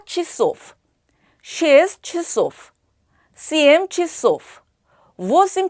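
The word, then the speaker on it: часов: 그래서 여기도 역시 차소프라고 읽는 것이 아니라 취소프라고 읽습니다. 뼈 취소프, 쉐스 취소프, CM 취소프, 워심 취소프.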